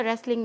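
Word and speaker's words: wrestling: ठीक है, Anil was watching a रेसलिंग match. Anil क्या कर रहा था, ये देखिए रेसलिंग जो है इसमें डब्ल्यू साइलेंट है, रेसलिंग मैच कुश्ती का मैच, है ना।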